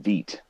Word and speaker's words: Vite: for michael bourne but it's pronounced veet um so i don't